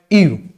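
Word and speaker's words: ewe: मादा भेड़ जो लारे परिवार संभाले बा कहलावे ईव। ईव बोल देते हैं, इंग्लिश में अलग स्पेलिंग चलती है, अपने ईव याद रखना, ठीक है, ईव।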